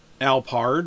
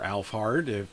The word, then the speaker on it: Alphard: We're back at Alphard, or Alphard, however you want to pronounce it.